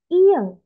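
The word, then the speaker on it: 이응: Nah, di sini ada keterangannya Iya. tidak ada suara. Nah, jadi ya Robun, untuk huruf iyeng ini dia tidak memiliki suara.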